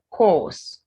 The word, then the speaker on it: course: Then COURSC, it's course. Course. It's still the O sound.